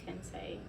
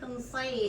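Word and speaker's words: Kansaye: My last name is Kensei. Say it again. Kensei. I never heard somebody pronounce Kansai like that before. How do you say it? It's not Kansai. It's A-Y-E, right? A-Y Kansai.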